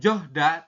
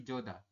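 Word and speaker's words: 좋다: kemudian ada lagi coda coda ini bukan johda tapi Joda kalau jda kan berarti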